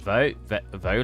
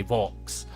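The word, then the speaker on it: faux: It's like, how do you say it? Vo leather? It's like V-A-U-X. I used to say Vox. It's like Vo leather.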